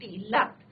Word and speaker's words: leapt: मैंने आपको बताया था, यस्टरडे आई टोल्ड यू कि it's spelling is LEAPT, लेफ्ट।